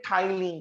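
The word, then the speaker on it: ptyalin: P අකුරකින් පටන් ගත්තට යාව pronounce කරන්නේ tryline කියලා.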